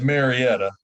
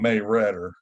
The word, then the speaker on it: Marietta: never been there and it is Marietta it's not May redder you know stay like that in West Virginia I have too many